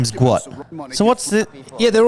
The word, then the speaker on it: Gout: Guat. Oh, it is a full name. Yeah, it's pronounced guo t.